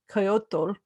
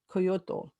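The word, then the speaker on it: coyotl: has spread and coyote the word coyote comes from the aztec word kyoto which means howling dog koyoto right that i think i pronounced that right coyote has learned to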